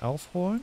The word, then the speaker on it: aufhören: Oh, there's an accent on the O in Aufhorn. Okay. Das Konzert muss aufhören, es schneit.